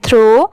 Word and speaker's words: throw: थ्रो।